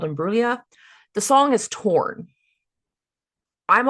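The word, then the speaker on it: Imbruglia: I'm pretty sure it's called Imbulia.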